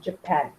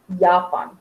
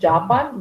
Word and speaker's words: Japan: No, I'm from Japan. Ja? Auf Deutsch sagt man Japan. Nicht Japan, Japan. There is no J. J is pronounced as Y in German.